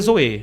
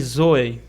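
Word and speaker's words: ζωή: Eu prefiro dizer zoê, outros dizem zoe, eu prefiro dizer zoê. Eu acho uma pronúncia mais bonita.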